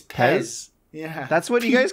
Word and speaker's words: PES: It's Pez. Yeah. That's what you guys call it? It's called Pez.